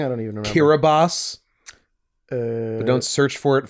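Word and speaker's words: Kiribati: kirati but it's pronounced kiraboss cuz TI makes an S sound in their boab Booga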